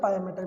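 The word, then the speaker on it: pia mater: पिया मैटर भी बोलते हैं कई लोग पाया मैटर भी बोलते हैं। पाया मैटर भी सही है, पिया मैटर भी सही है, दोनों सही है ना, कोई ऐसा गलत नहीं है किसी भी तरीके के प्रोनाउंसिएशन में। तो दोनों प्रोनाउंसिएशन आप कर सकते हैं।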